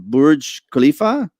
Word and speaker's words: Burj Khalifa: I can't pronounce it. Burj Khalifa.